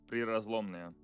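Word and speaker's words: Prirazlomnoye: oil field, which I lack the ability to pronounce. I believe it's Prirazlomnia.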